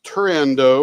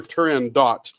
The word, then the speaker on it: Turandot: But my favorite is Puccini's Turandot or Turandot, depending upon how you say it.